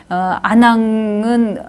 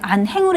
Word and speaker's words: 안항: 그러면 이제 내가 그 사람을 향해서 얘기할 때 안항은 안 오십니까? 그러면 너의 형제들은 안 오냐? 이런 거를 높여서 말하는 거죠. 이런 거는 형제, 남의 형제를 높여서 표현할 때는 이거는 안항이라고 읽어야지 안행으로 읽으면 안 된다 이런 얘기예요.